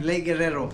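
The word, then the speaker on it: Guerrero: them fishing in lake gerero did I say it right sir say it with the Mexican twang Guerero there you go you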